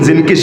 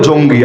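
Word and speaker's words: زنكي: একবার যদি নুরুদ্দিন জিনকির সাথে, বাংলায় বলে জঙ্গি, আসল উচ্চারণ জিনকি, এই নুরুদ্দিন জিনকির সাথে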